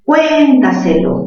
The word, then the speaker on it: cuéntaselo: Según el contexto sería, cuéntaselo, mayor fuerza ¿dónde? Mayor fuerza en la sílaba, cuen. Ajá, mayor fuerza en cuen sería una palabra sobre esdrújula, ¿verdad? Cuéntaselo. Última sílaba, lo, penúltima se, antepenúltima ta, tras antepenúltima cuen.